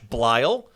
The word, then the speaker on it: Bleill: Today with us is Bleill. Rhymes with smile.